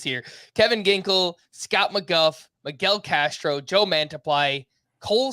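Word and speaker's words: McGough: it's a fellow Scott Scott McGuff yeah mcg-o-u-g-h is how you spell that and he was a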